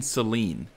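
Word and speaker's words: Cyllene: i did look up how her name is pronounced yes it is captain celine it made sense as soon as i heard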